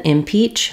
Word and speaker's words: impeach: impeach and impeachment so the stress in impeach falls on the second syllable Peach and it's pronounced just